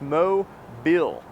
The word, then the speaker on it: Mobile: going to have to learn to pronounce it right it's mo bill say it with me